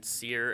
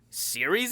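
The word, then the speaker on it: Cere: the train and then sear and grease like fly by and you like Series in this game because their name is spelled c-e-r-e you're like Siri you're like you know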